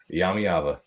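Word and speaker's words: Iamaleava: Iyami Iyava.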